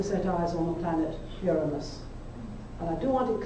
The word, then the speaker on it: Uranus: human being to set eyes on the planet uranus and i do want it clear that it's pronounced uranus get a lot of nasty jokes about that